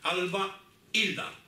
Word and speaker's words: Albelda: Incluso puedo decir cuál era la pronunciación, porque la I de Alba Hilda es como si fuesen dos palabras. Es que por una parte está Alba y por otra parte está Hilda, ¿de acuerdo? Entonces, eso quiere decir que hay, llamamos en gramática a esto, en prosodia, llamamos un hiato. Es decir, que hay que pronunciar la A por una parte y la I por otra. Alba Hilda.